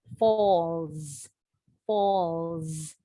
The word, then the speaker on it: falls: Fall ends with the letter L. The final S is pronounced with a Z. Falls, falls.